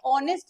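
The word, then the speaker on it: honest: कौन सा आना चाहिए ऑनेस्ट में एच साइलेंट है ओ ओ से स्टार्ट हो रहा है उसका साउंड इस वजह से एन ऑनेस्ट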